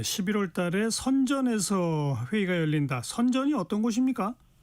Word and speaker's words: 선전: 선전이 어떤 곳입니까? 네. 선전은요. 어 우리나라에서 심천이라는 그런 발음으로도 굉장히 많이 알려주고 있는 것입니다.